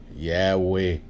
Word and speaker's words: Yahweh: I want to point one thing out, that they say that Jehovah is the wrong pronunciation, improperly mixing Keri and Ketev. I just want to point that out. Yahweh was the original form.